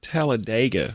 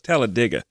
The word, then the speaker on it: Talladega: way to say it it's not talladega like i don't know what eric church is singing about talladega no it's telediga there's a igg taladiga